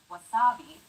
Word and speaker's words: wasabi: a syllable like wasabi, make it even throughout.